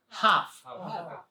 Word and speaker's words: half: half half no half so no l BL is silent no l half half very good half